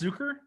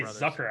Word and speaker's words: Zucker: brothers or is that is it pronounced zooker i think it's zooker zucker zucker brother sorry i say zucker i'm gonna say i don't see like an accented you on there that would be zooker yeah nice try 1990.